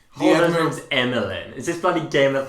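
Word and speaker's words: Amilyn: speaking of cut out oh her name is emeline but spelt with an a i thought about holdo's name or the actress's name holder's name is emilyn is this bloody game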